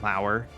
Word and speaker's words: Lauer: So, for old Boudin pockets, not Brian, Lauer, spelled like Lower, and announcer Rachel will take us out.